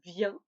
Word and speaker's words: vient: Oui, cette forme et cette forme se prononcent de manière identique car le S et le T ne se prononcent pas. Je viens, tu viens, il, elle, on vient.